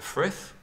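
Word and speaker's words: Frythe: a big country house, called the Frith, I think it's pronounced. I've never actually asked anybody that one. F-R-Y-T-H-E.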